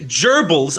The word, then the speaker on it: gerbils: you know about running gerbils up a tube into your rear end and all that stuff and it turns out he actually pronounces gerbils with a hard G yeah gerbils no he